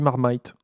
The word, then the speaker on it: Marmite: suis prête pas alors ça s'écrit marmite mais on dit marmite n'importe quoi alors on